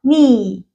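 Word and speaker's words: knee: نت نت نت وكلمه زي كلمه مثلا الركبه ني ني ني ال هنا يا مت ققولك يس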